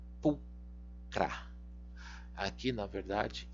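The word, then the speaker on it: pulchra: O CH você vai pronunciar como K, pulcra.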